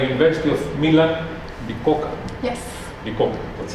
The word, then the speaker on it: Bicocca: Bicocca, that's right. It's difficult to pronounce this.